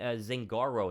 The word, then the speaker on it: Zangaro: and this is from Dave Zhang zangaro is how you say his name and he kind of